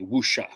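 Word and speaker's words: wuxia: it's not called it's it's called wu show that wu shu no it's w u x i a wusha ah okay okay okay that's a close approximation that's not the exact pronunciation but it's close i could speak would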